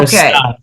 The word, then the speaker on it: Versailles: It's a French Versailles. word. Versailles. Yep. Okay. Versailles.